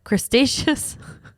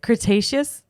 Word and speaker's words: Cretaceous: about fashion trends are crustaceous that's not how you say it Cretaceous cret Cretaceous yeah Cretaceous and Jurassic mix and